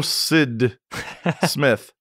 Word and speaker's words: S.D. Smith: Hello, Sid Smith. Sid Smith. Nate was saying we need to make it clear that you are SD, he is ND, so we should just pronounce the initials.